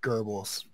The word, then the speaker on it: Goebbels: I'm going to call him Gobbles. It's actually Goebbels.